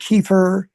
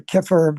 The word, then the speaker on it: kefir: Fermented foods are very good to eat like kefir uh or kefir depend how you pronounce it which is a it's like almost